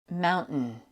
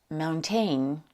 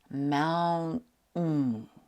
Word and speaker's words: mountain: In slow motion, it's pronounced mountain. That last sound, which sounds just like an N sound, is called a glottal stop.